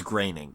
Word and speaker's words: Groening: Oh, he's related to, it's Groening, which, I mean, Groening. it's not your fault. It's spelled Groening.